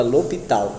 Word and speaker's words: L'Hôpital: Se escreve assim, tipo L'Hôpital, mas você fala L'Hôpital, certo? L'Hôpital. É francês.